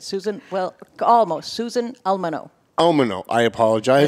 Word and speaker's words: Almono: Susan Almono, did I say it right? That's it. Susan, well, almost. Susan Almono. Almono, I apologize.